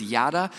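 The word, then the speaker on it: ידע: is something much deeper the Hebrew word is yada is how I'm going to pronounce it for us to understand today it's kind of like you know the phrase like yada yada yada kind of like that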